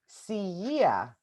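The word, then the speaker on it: στην υγειά: So the way that you say cheers in Greek is siia.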